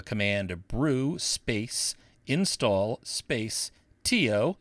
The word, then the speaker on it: tio: Brew space install space too that's spelled Tio for terminal IO like uncle in Spanish and press return and